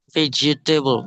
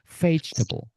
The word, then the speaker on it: vegetable: yang salah vegetable. Ah, bukan itu bukan vegetable tapi melafalkannya vageable. Pageable. Pageable. Lihat mulut saya, Teman-teman. Take a look at my mouth, everyone. Vetable.